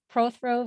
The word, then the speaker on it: Prothro: throw vineyard family vineyards did i pronounce the name correctly that's the first question surprisingly so most people don't but you did uh and it's it's pro throw family wines okay oh that note